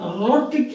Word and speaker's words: rhotic: So rhotic means R like so.